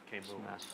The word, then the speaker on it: Camus: Camus? the best Yeah. hand currently. Greg with a gut shot, facing a know. I mean, 130 In bet. France, and it's Camus.